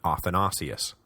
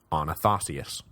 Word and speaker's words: Athanasius: polarizing Bishop of Alexandria should have been Athanasius, not Anathasius.